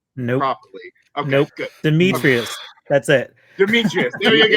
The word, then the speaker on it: Dimitrius: Does anybody want to actually try to pronounce this guy's name who plays Deck Nope. properly? Okay, Nope. good. Dimitrius.